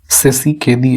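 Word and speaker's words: Tshisekedi: है हाल ही में फेलिक्स सेसी केदी ऐसे कुछ इसको प्रोनाउंस करेंगे तो किस देश के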